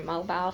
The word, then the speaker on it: Mobile: call it that too, because it's spelled the same thing as your mobile phone. Or what it used to be called, mobile phone anyway. But anyway, it's called Mobile, Alabama.